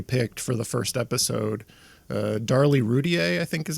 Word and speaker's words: Darlie Routier: Darlie Routier, I think is how you say her name, the woman the mother. Yeah, Darlie Routier.